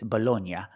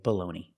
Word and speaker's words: baloney: I know in Italian it's Bologna, but this is not Italy, this is America. We say baloney.